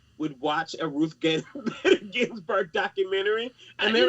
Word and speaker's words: Ginsburg: I want to make sure I pronounce it correctly. Ginsburg, yes.